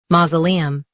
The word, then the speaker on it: mausoleum: Ma Z lee um mausoleum stress ma and keep z soft ma z lee um mausoleum stress ma and keep z soft ma z lee E um mausoleum.